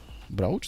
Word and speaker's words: brooch: Right now I guess it's 20 25 millions and this blue brooch brooch this is the way I should pronounce.